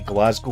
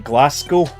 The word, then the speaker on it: Glasgow: city as well because Americans pronounced my study Glasgow was Glasgow which really annoys me I mean Glasgow I cannot accept because that's how it's spelled but Glasgow Glasgow I really hate that yeah but yeah hey